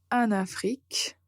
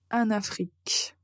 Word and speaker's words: en Afrique: chose un en Afrique donc ici ce qui se passe c'est que vous n'allez pas prononcer la proposition en nasal mais vous allez la connecter avec le continent et on ne va pas le prononcer de façon nasale parce que la lettre N va être entourée de de vOYEL et ce sera plus facile plus naturel et bien sûr correct de dire en Afrique et ce sera la